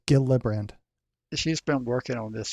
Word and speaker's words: Gillibrand: this and subject this article I'm trying to pronounce her name I think it's it's Kirsten gildebrand uh gildebrand yeah yeah it's Gila brand she's been working on this for a decade